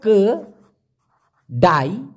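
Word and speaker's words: kedai: দেখুন শুধুমাত্র ক ডাই, উচ্চারণটা হলো ক ডাই, কেডাই।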